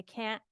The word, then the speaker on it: can't: When you say a T after an N in American English, and I think in other Englishes too, we very often don't even say the T. I can't forget. I can't. I put a little stop, but I don't actually pronounce the T.